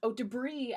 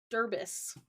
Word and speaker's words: debris: My very first D&D session, I mispronounced debris as Derbis.